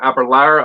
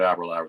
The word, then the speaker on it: Aberlour: Rhymes with sour. When we were doing we did not a tour, but we spent some time in the gift shop area there, and they were pronouncing it Aberlour the entire time.